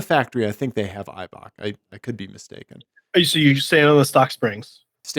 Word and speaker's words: Eibach: Eibach?